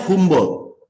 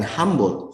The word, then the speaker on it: Humboldt: yang luar biasa Oh ini dibacanya humboldt ia bukan hambur humbolt Oke ini perpustakaan humboldt